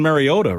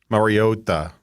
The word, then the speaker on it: Mariota: all introduce themselves, and the way he said Mariota. Mariota. It was, That's how, and then it was a Collinsworth. Hawaiian pronunciation then.